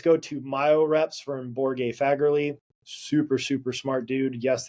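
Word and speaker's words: Borge Fagerli: Then uh let's go to Myior Reps from Borg Faggerly. Super super smart dude. Yes, that is how you pronounce his name.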